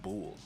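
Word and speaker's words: boul: You know, I actually just found out they're not saying bull. They're saying bull. I thought it was bull. I thought it was too, but they spell it B-O-U-L.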